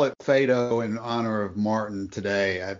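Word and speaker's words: Phaedo: are we going to pronounce the name of this dialogue Pho like the dog or fedo should be fat no fedo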